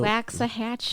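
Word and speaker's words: Waxahachie: how do you say that Town's name Scarville wax a Hatchy wax a Hatchy wax it's 93 miles I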